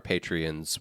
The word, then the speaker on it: Patreon: context that only our patreons will be able to hear and it is we're going to actually it's it's pronounced patreon oh is that right there's a there's an accent Sean yeah um there